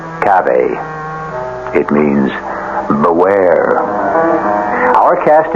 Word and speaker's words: cave: For myself, I equate cave with a Latin word spelled the same way, cav, but pronounced cave.